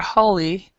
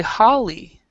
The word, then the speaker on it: Holly: right either so um many people will say call me holly and haley and or holy or some people actually holy and it's actually holly so it's a completely